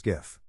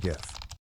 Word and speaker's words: GIF: for the G and gif soft G the creator of gifts Steve wilheit said it should be pronounced with a soft G sound like the peanut butter brand gif he created the